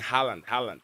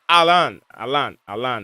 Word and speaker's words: Haaland: You said Alan. I keep saying Haaland. It's Alan, yeah.